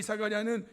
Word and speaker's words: 사가랴: 그리고 재단과 성전 사이에서 죽임을 당한 사가랴.이 사가랴는 신약적인 발음이고 구약적 발음은 스가랴예요.